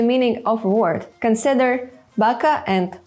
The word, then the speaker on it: baka: Consider baka and baka, or pito and pito. You can also hear how the stressed vowel is pronounced longer.